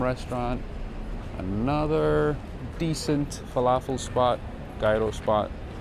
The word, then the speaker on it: gyro: Another decent falafel spot, gyro spot. Gyro is, I think, the proper way to say it.